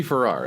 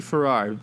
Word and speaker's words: Farrar: Farrar is how I say it. So Farrar, like the Ferrari.